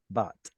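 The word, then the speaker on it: בת: You get to see the missing noon, but in Hebrew, noon at the end of a syllable will assimilate. So instead of bint, we get beat or bat.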